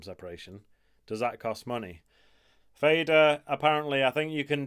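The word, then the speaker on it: Fadr: I'm using one called Fader, and it's spelt like F-A-D-R, Fader.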